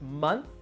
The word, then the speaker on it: month: did you spend any time studying English last month remember the oh it pronounced like unn unn month month almost like